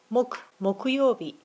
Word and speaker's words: 木曜日: 曜日の時は木曜日と読みます。Friday は金曜日です。